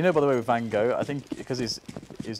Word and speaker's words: van Gogh: by the way with van Gogh I think because he's is that she singing supposed to say like Vanko poor thang off or something like that like something completely unpronounceable for a British person but van Gogh I'll